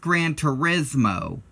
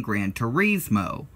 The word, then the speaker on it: Gran Turismo: outright it's pranced Gran Turismo like the Italian pronunciation well while that's true and all in the United States as a colloquial pronunciation of it being Gran Turismo colloquialisms are basically different